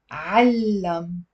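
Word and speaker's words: علّم: علم. So there is a fatha on the ain and a shadda on the lam with a fatha.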